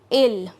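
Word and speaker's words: ils: next personal pronoun is ill now here i have written i l s but the last word s is silent here so we will not pronounce that and ill means they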